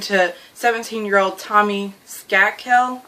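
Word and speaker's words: Skakel: 17 year old Tommy scat kill I think it's how you say his name skoo kill the nephew of senator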